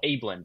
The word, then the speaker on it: Abeln: it works out in this one as well ablin by the way is how you pronounced his last found the pronunciation on the